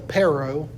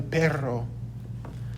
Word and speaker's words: perro: dog in spanish um a lot of people might say el perro but that is wrong that's very texan that's very not using any spanish accent it would be el perro el perro el perro